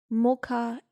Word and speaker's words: Mokha: the Sufi monasteries around Mocha in Yemen. Oh, I'm so sorry. Is that where the origination of the mocha came from? That's cool. Is that spelled the same? No, it's Mokha, but that's pretty cool.